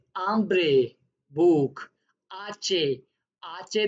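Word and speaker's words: hambre: आचे जो होता है वो हमेशा साइलेंट रहता है स्पेनिश में, तो उसको प्रोनाउंस ऐसे करना है आचे। आचे दे ओला। आपने देखा होगा ये एच लिखा हुआ है, मैंने इसीलिए रेड किया है कि ये प्रोनाउंस नहीं होगा।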